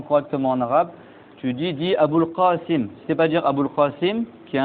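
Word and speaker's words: أبو القاسم: D'accord, et si c'est pas prononcé le ha, ben il dit Abul Qasim avec un ga à la place du qaf, et ça c'est un des dialectes de la langue arabe.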